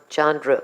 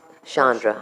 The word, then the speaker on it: Shandra: Miss Caren Miss CH Chandra Chandra Chandra Shandra I was right s yes ma'am sorry that was me I corrected her pronunciation I thought it was Chandra my apologies Shandra Shandra state